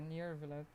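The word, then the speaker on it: Neuvillette: How do you say his name again? Nirvalet? Yeah, Nirvalet.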